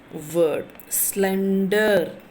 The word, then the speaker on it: slender: Slender, slender, slender, slender, slender. So the two syllables are there, so you are stressing at the SLEN, slen.